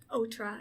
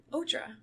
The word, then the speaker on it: OTRA: So I only went to the Otra tour. And, what? Otra. Isn't that how you say it? Yeah. Okay. Otra, on the road again.